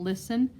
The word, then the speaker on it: listen: today doesn't it i know there's a silent t and listen um i my y